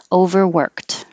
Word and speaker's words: overworked: d overwork overworked and again this ed changes to a t for past tense overworked if it's a noun